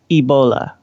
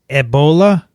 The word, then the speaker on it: Ebola: the E in Ebola has an accent aigu, which, however, is not shown because the E is capitalized, i.e.